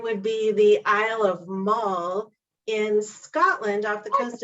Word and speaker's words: Mull: of appalachia it would be the isle of mall in scotland off the coast of scotland it's spelled m-u-l-l and um mole on that but they call it mole magic